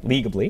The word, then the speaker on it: Legably: your company is called Legably. Am I saying it right? Legably. That's right.